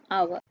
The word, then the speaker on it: hour: ඊළඟ උදාහරණය our. මේ word එකේ first letter එක h කියන්නේ consonant letter එකක් වුණත් මේක අපි pronounce කරන්නේ our කියලා.